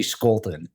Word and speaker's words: Scholten: my last name we we pronounce it the German Way when it's actually Dutch and so it should be Scolton and so when I